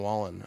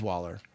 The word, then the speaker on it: Waller: Darren Wallen, I think it is. No, it's Waller. I said the name wrong.